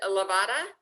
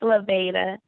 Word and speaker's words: Laveda: Is it Lavada? If I mispronounced your name, please correct me. I'm asking you to. Yeah, it's Laveda.